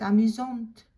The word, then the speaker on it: amusante: Again, you pronounce the T. Elle est amusante.